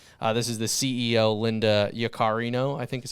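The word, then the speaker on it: Yaccarino: services and opportunities this is the CEO Linda yakarino I think is how you pronounce it powered by AIX will connect us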